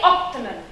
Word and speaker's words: optimal: or any other consonant, the stress is still on the first syllable. Like when I say optimal.